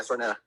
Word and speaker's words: Stornetta: Yeah, Stornetta.